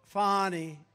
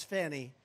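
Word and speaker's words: Fani: right has anybody fonnie it's pronounced fonnie F A ni I that's Fanny but she likes it Fon when she became the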